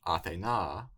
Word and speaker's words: Ἀθηνᾶ: it's Ἀθηνᾶ or Athena.